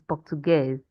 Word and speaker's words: português: It is português. So you got it onto professora, but you did not pronounce Portuguese well.